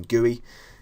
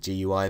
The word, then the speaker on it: GUI: like to call them gooey that's the acronym but lot of people like to pronounce it gooey instead of GUI but it doesn't really